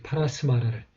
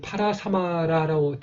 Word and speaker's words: परस्मर: 그리고 한자로는 이렇게 이 파라사마라라고 되어 있습니다만은 이제 여기에 있는 이 사마는 이제 이 스마를 여기는 스마를 한 글자로 쓰라는 뜻입니다. 이 합을 두 글자를 합쳐서 하나의 발음을 하라는 뜻으로 보시면 되겠습니다.